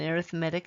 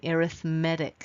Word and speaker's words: arithmetic: have what's called an arithmetic sequence it's spelled like arithmetic but when it's used as an adjective for a sequence it's called arithmetic explain why the toothpick